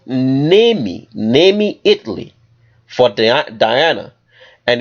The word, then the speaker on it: Nemi: a very unique Temple in a place called nemi Nami Italy for Diana and it's from that place because they call that a city maybe Italy I hope I'm pronouncing it right it's spelled n-e-m-i from nimi Italy they built a temple for uh the